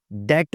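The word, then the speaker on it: debt: तो जनाब डाउबट में नहीं बोलना, हमने इसको डाउट बोलना है, डेट बोलना है, डेब्ट नहीं बोलना।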